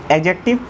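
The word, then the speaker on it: adjective: एडजेक्टिव, एडजेक्टिव क्या होता है? पहले तो इसका प्रोनाउंसिएशन में डी साइलेंट होता है ना, एडजेक्टिव नहीं, एडजेक्टिव। एडजेक्टिव क्या होता है?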